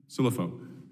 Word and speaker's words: Cilluffo: Cilluffo, pronounce that for me again? Cilluffo.